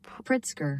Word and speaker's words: Pritzker: how to pronounce it I think it's pritsker I don't know if you can hear that it's pritsker pritsker and the point of